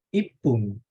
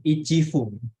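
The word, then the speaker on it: 一分: Ipung dibanding Ichifung. Kan kita lebih mudah bilang Ipung daripada Ichifung.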